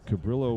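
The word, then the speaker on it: Cabrillo: for this conference C Cabrio did go on to beat Monterey Peninsula 8 to five so cabillo with u if you like to pronounce it with the L's 16 hits and seven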